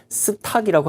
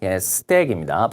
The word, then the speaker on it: stack: 스탁이라고 하면 안 됩니다. stack입니다. 발음이.